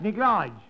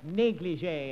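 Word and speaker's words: négligé: Neglige. Don't you speak French? Don't be silly. That's pronounced negligé. Well, it was pronounced neglige at our school.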